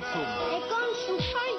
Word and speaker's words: Consum: Y todavía siguen sin pronunciar bien nuestro nombre. Consum. Consum. Para solucionarlo, pedimos su colaboración en un práctico ejercicio. Pongamos el acento al final de cada palabra. Besugo, tomate, ternera. En Supermercados Consum ponemos el acento en la U y en lo fresco.